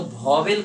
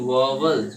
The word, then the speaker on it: vowel: इसको पढ़ते हैं वॉवल, वॉवल, क्या पढ़ेंगे? वॉवल, नॉट वॉवेल, understand?